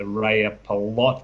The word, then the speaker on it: Rajapalot: drilling now at the Rajapalot area. So you got that pronunciation pretty close. Y's are J's in J's are Y's, I should say, in Finnish.